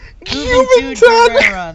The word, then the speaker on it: Juventud Guerrera: Juventud Guerrera.